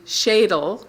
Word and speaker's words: Schadle: And in the meantime, we have Reverend Suzi Schadle, that is how she pronounces it, who's come from Florida.